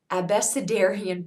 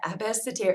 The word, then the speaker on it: abecedarian: was something called the abecedarian project I'm probably mispronouncing it a Basseterre AB acid area project ah a abecedarian project there we go so this is a